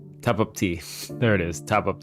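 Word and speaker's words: Tapatío: I can say topacio, but like it's how you're telling it to me.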